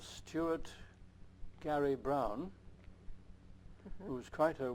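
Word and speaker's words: Gerry: And I heard from a UH professor called Stuart Gary Brown, who was quite a well-known scholar. Stuart, G-E-R-R-Y, pronounced Gary for some reason.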